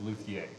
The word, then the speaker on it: luthier: Josh House, everyone, and you are a Luthier. luthier. Yeah. Now, if you're French, the pronunciation is Luthier.